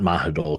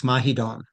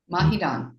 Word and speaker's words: Mahidol: The final L sounds like an N, so it's Mahidol. Mahidol.